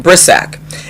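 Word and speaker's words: Brisack: And so I read an article about this young woman named Jazz, I think you pronounce her name Brissac.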